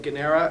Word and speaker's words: Guarnera: It's a hard G versus a gua sound. It's a silent R in the middle, much like I have silent G's and H's in O'Shaughnessy.